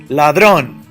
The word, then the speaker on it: ladrón: Ladrón. Ladrón. ¿Dónde subo la voz? Ladrón. It ends in an NS or vowel? Yes. I raise my voice on the second to the last?